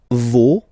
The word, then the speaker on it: vos: Okay, and then for the plural, nos, vos, and then leur. Okay, so remember, even if you've got this final S, you don't pronounce it, as it was the